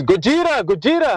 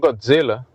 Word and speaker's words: Gojira: They're like, "Oh, we know what you're doing," but yeah, because you were saying Godzilla and it's Gojira, not Godzilla.